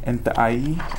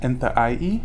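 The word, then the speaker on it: Nłʔay: So if you can see, Enta'ai is the Salish, actual Salish word for Missoula. Can you say it for us again? Enta'ai. Enta'ai.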